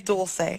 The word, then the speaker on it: Dulce: Am I pronouncing your name right? Obviously not. No, it's Dulce.